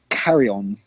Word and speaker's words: Carrion: I'm going to go for Carry On. Carry On? Is that how you pronounce it? Yep, CARRION. Yeah.